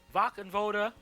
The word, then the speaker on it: Wachenroder: WACHENRODER, that's how you say it, WACHENRODER, was a